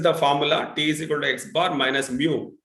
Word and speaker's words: mu: so this is the formula tal xar minus mu it's pronounced as Mu this this this one is pronounced as Mu